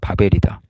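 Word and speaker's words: בָּבֶל: 중심이 된 도시 바빌론 바빌론의 히브리 발음을 바벨이다 혼란이라는 뜻이죠 원래는이 바벨론은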